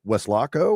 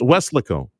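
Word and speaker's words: Weslaco: So, I'm looking uh is it West Lockco or Wes Lego? I'm going to give you a You got to give me some pronunciation. Anyway, think it this way. Wes Loco. It's It's Wes Lico.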